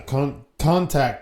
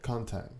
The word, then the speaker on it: contact: Okay, so yeah, contact the dead. Did I say it right that time? Yeah. Contact. What did I say before? Contact. You have the emphasis on the wrong syllable.